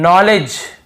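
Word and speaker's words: knowledge: यानी घुटना होता है नॉलेज यहां पर भी देखिए नॉलेज यहां पर भी डी साइलेंट है नॉलेज नहीं है नॉलेज डी भी साइलेंट है यहां पे के भी साइलेंट है नॉलेज तो दो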